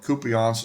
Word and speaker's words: Kupiansk: And for the most part, Russia has the initiative, except that that's what Kupiansk is how you pronounce it, the area kind of in the